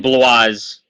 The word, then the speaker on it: Blois: It's Blois. Yes. Wait, say it again. Blois. Blois. Wow, I thought it was Blois. I thought it was like French or something.